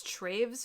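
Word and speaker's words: Toews: It's spelled Toes, but I think it's Traves or something like that.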